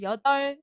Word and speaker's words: 여덟: 여덟, 여덟, 8살, 여덟, 여덟, 여덟비다, 여덟. 이 여덟 부분 비읍으로 발음 안 나오고 리을로 나잖아.